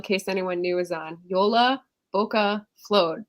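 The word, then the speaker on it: Jólabókaflóð: anyone knew was on yola boca flowed that's how you say it you just keep the same sound and we just do yola for short kind of like yolo because it's kind of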